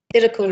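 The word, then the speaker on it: Thitikul: And now, how do you pronounce it? Is it Thidakul? Thidakul, yeah.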